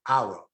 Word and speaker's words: Hour: The name of the show is International Hour, OUR. Since the H is silent, I drop it off altogether.